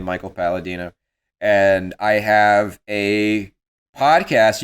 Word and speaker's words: Michael Palladino: uh at cycle Tarantino cycle underscore Tarantino it rhymes with my name Michael Paladino and I have a